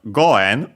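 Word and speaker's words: 五円: Uh then we have goen also accented before n.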